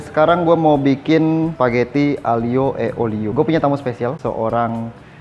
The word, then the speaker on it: aglio e olio: Dan sekarang gue mau bikin spaghetti aglio e olio.